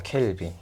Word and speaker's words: 켈빈: 네, 3000K라고 봐도 되지만 켈빈이라고 읽어줍니다. 켈빈.